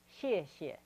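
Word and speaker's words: 谢谢: And then the two words 谢谢, you might have heard of it before. It means thank you, and it's spelled X-I-E, X-I-E.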